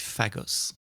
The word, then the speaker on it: Phagos: And um I pronounce with my French accent fagos at the beginning of at the introduction of the show. It's actually Fagos.